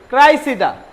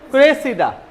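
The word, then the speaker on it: Cressida: by William Shakespeare লেখেন এটা হচ্ছেন ক্রাইসিডা এটার উচ্চারণ কি ক্রাইসিডা আর এটার উচ্চারণ কি নিচে ক্রেসিডা এটা একটা নাটক এটা আবার কার লেখে আমাদের বড় ভাই উইলিয়াম শেক্সপিয়ার বানানটা দেখেন ক্রাইসিডা এটা ক্রেসিডা ঠিক আছে বুঝছি সবাই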